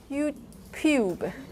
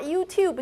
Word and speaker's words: YouTube: Why did I say YouTube?